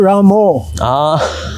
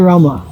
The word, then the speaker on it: Rama: Another interesting point is Hare Rama or Hare Ramo. Sometimes devotees chant Hare Ramo. And Bengali devotees, they chant Hare Ramo because it's part of their language. Yes. They have challenges chanting Hare Rama. But Srila Prabhupada, even though Bengali, Srila Prabhupada's Kirtans, if you listen to Srila Prabhupada, he would chant Hare Rama.